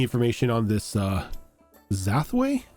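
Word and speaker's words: Zafway: on on this uh zway you said zway it's either is it zfw how how do you spell it Roan it's z z uh zfw z a f w a y yep okay it's zafo with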